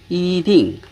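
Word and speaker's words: 一定: 이의 원래 성조는 제1성이지만 이 다음에 성조가 제4성이 올 때 앞에 이의 성조를 제2성으로 발음합니다. 예를 들어서 이딩 이 뒤에 이 다음에 사성이 왔으니까 앞에 이를 이성으로 바꾸어주고 이성으로 발음을 해줍니다.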